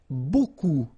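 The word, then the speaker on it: beaucoup: strange Buu like that remember you don't pronounce the final P okay and then you get this combination of vowels uh and you get the sound o so technically it's okay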